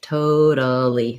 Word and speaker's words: totally: an example of where you see a l l y and you do make a sound for the a totally three syllables totally and it's long short short versus basically is also